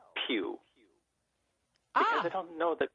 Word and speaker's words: Pugh: Pugh, or Pew or Pooh or, so it's been pronounced every single way. So I just say, like the church pew.